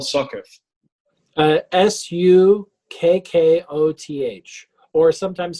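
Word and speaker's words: Sukkoth: you spell success uh s-u-k-k-o-t-h or sometimes spelled with c's s-u-c-c-o-t-h i've seen it with the c's and how do you pronounce it sukkot um can i share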